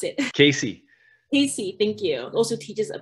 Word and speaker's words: CACEA: otherwise pronounced as CESA, or how do you pronounce it? Casey, thank you.